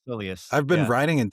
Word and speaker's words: soleus: Soleus strain? Soleus? Yeah. Yeah. Yeah, That's yeah. how I've been saying it. It's Soleus.